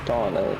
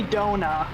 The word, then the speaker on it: Dona: always want to say Dona and I'm like no that's I I don't understand that cuz I see d o n a and I'm just like oh that's just Donna Donna the donut no